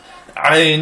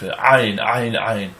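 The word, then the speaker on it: Ayin: Ayn is a letter that a lot of people pronounce like an aleph, either silent or as a glottal stop. And ayn has its own sound.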